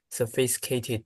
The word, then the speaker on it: sophisticated: Now, they may not be the most sophisticated people, Okay. Sti, sti, sticated, sophisticated, sti. sophisticated, sti, Sophisticated. 5 syllables.